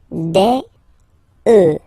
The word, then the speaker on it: œufs: un bœuf, des bœufs, alright, then un œuf, des œufs, okay, and we'll make the liaison here to make it sound more beautiful. Des œufs, alright, un œuf, des œufs.